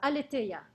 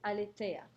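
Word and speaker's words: aletheia: with that truth in greek means is uh aletaya heidegger also talks about this word truth same word alite let me spell it for you a l e t h e i a alitea okay that's the greek word for truth now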